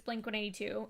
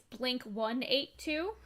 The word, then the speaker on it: Blink-182: Apparently, in the United States, it's Blink-182, aka the correct way. In the UK, apparently it's Blink-182. Fucking terrorists. Absolutely wrong. How dare they? That is just absolutely ridiculous. Blink-182?